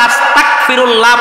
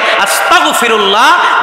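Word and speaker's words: أستغفر الله: ক দিয়া, ব্যঞ্জন বর্ণ ক দিয়া, আরবি হরফ কাফ দিয়ে কে উচ্চারণ করে আস্তাগফিরুল্লাহ পড়লে এটা আপনাকে কুফরের দিকে নিয়ে যাবে, বলুন নাউযুবিল্লাহ। আর যদি পড়েন আস্তাগফিরুল্লাহ গইন দিয়ে, আরবি হরফ গইন, ব্যঞ্জন বর্ণ গ, আস্তাগফিরুল্লাহ, এটা যদি পড়েন এটার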